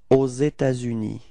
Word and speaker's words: aux États-Unis: There is this liaison between this final S of État and then this U, okay.